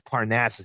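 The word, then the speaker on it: Parnassus: The movie with Heath Ledger is Parnasses. He really butchered that.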